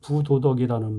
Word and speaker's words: 부도덕: 땅 밑에 내린 뿌리는 보이지 아니한다 해서 아니 불이라고도 하고 아니 부라고도 하는데, 이 불자 다음에 디귿이나 지읒자로 시작하는 글자가 오면은 리을 받침을 빼고 부로 발음을 합니다. 불량, 어질 양자니까 행실이나 성품이 나쁘다는 뜻이고, 불만은 찰만자 합쳐서 만족스럽지 않아서 불쾌하다는 뜻이 되겠습니다.